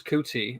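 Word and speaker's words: Ncuti: I'm probably gonna crucify his name, but I think it's Kuti. I think the end is silent.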